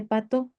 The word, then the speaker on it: Patau: Este síndrome se conoce como síndrome de pató. Patau se escribe síndrome de patau.